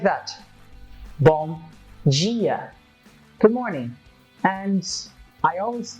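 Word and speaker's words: bom dia: always tell people that the vowels I and II will be your troublemaker because we will change some of the consonant sounds that follows them in this case you have the I and it sounds like Jean and it happens the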